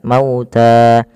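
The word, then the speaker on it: مَوْتَى: Kemudian pada lafal ta, di sini kita baca dengan mad tabi'i, panjangnya 2 harokat, maka harus dipanjangkan dulu 2 harokat, mauta.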